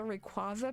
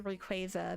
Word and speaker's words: Rayquaza: Like, growing up, I was always a Rayquaza person because that felt better. But now I say Rayquaza because like that is the way.